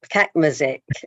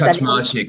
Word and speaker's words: Kaczmarczyk: And yes, Mr. Kakmazik, that how I pronounce it? Yes, it is. Perfect. Okay, yes. Kaczmarczyk, actually, Chair.